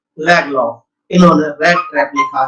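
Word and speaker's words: Lagerlöf: इसको लैगरलॉफ मत पढ़ना आप, इसका उच्चारण है सैल्मा लैगलॉफ।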